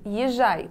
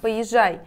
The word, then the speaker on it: поезжай: слова которых не существует езжай правильно поезжай интригант правильно интриган без